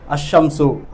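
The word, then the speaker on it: الشمس: ஷம்சுடைய எழுத்துக்கள் வந்துச்சுன்னு சொன்னால் லாமை வந்து உச்சரிக்காமல் ஷத்து பண்ணி வாசிப்பாங்க. அஷம்சு, அல் ஷம்சுன்னு வந்ததுக்கு லாமை உச்சரிக்க மாட்டாங்க, அஷம்சு.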